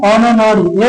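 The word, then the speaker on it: honour: से देख रहे हैं जो एच का उच्चारण है वो ह क्या हो रहा है अ हो रहा है ठीक है तो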